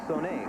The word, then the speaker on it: Sonny: And new on the field at quarterback is Son Cavazos. Cavazos, the number 3 quarterback for Texas Tech, who threw 6 passes all year. Told it's pronounced Sonny Cavazos.